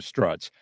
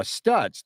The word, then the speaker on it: Stutz: you see that studs she mispronounced it called him struts uh Stutz the new GOP leader